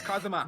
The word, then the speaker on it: Kazuma: Yeah, it's Kazuma. But Kazuma really, Asogi.